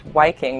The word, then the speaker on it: Viking: The Old Norse word Viking is actually pronounced Viking with a W.